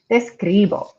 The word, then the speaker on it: escribo: as you pronounce it making sure to put the stress on that second to last vowel so that's why i